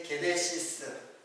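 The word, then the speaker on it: γένεσις: 그래서 이제 게네시스, 삼성 자동차에서는 제네시스라는 차가 있잖아요. 그 그 제네시스가 바로 게네시스를 그 영어 발음으로 하면은 제네시스예요.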